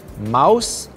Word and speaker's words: mouse: today's tricky words are mouse and house these words are tricky because the last letter e is silent when II follows oh you we don't pronounce the letter e instead we say mouse and house tricky words